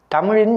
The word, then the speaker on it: தமிழ்: இப்போது ஓய்வு பெற்றிருக்கின்றேன் நான் தமிழாசிரியர் என்பதால் மாணவர்கள் எப்படி தமிழ் பேசுகின்றார்கள் தமிழ் எழுதுகின்றார்கள் என்பதை நல்ல முறையில் கவனித்திருக்கின்றேன் அவர்கள்